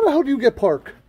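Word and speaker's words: Paak: peck park how the hell do you get park it's park it's pronounced park p-a-a-k r i thought it was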